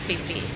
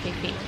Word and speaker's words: Phi: It's PHI, not PHI, no.